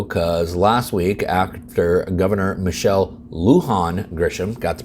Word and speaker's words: Michelle Lujan Grisham: is New Mexico because last week after Governor Michelle Lujan Grisham got the pronunciation right thank you to all my viewers